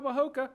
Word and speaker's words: Majaka: So every time he scores something, I say, "Way to go, Mahoka," because that's how they pronounce it.